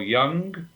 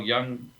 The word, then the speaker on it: Jung: Many of your listeners will know Professor Carl Jung, and Carl Jung spelled Jung, not Young in the other pronunciation of the word.